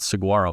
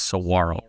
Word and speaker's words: Saguaro: Arizona also I learned because of the cactus g is silent so it's not Saguaro it's Saro Saro High School in